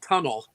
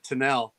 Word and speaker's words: Tunnell: my favorite subjects and you pronounced it right too people will say tunnel instead of tinel but it's it it